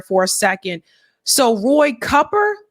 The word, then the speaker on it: Cooper: a second so Roy copper is it copper everyone I know calls him Roy Cooper because it's spelled Roy Cooper but anyway uh Roy is